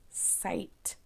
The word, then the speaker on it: site: is quite a big site I know that's long I because there is silent e so I say I site good job you can make